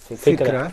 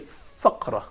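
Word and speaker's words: فكرة: Fikra. Please don't be confused between fa, tha, and qa. Yeah. Okay, so we say also fikra. We don't say faqra.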